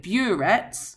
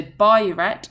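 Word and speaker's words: burette: I've just emp emp emphasized the pronunciation here. So by uet because often students call it bureet which is incorrect. That is a piece of equipment that you use in chemistry. So boret is the name of this reagent and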